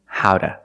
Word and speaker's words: how to: Or pronunciation, howda, howda. Why do we say howda? Because the T is between vowels, phonetically.